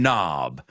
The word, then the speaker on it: knob: K-N-O-B. It's got a silent K in there.